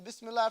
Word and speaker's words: Bismillah: right so with the Bismillah for example you don't say this you gotta roll the r you gotta put emphasis on the land Bismillah that's their